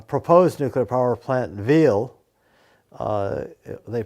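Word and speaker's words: Wyhl: There was a proposed nuclear power plant in Wiel, they pronounce it, where the local farmers built a nonviolent resistance movement that actually stopped that power plant.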